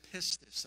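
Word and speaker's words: pistis: it's the greek word it's it's we would pronounce it pistus all right p-i-s-t-i-s all right and he says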